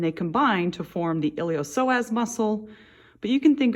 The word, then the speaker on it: iliopsoas: is all called the iliopsoas muscle it's kind of a weird name that p is silent technically it starts as